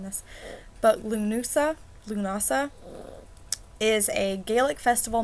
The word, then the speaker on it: Lughnasa: the actual I know I keep bring this pronouncing this but Lou Noosa Lughnasa is a Gaelic festival marking the beginning